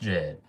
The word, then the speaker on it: Jed: Not Jedadia. Just Jed. One syllable, nice and simple.